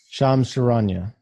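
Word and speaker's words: Shams Charania: correct me if you think i'm saying his name wrong that's fine um sham sharanya okay thank you uh so him you're welcome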